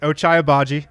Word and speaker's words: Ochai Agbaji: Ochai Agbaji.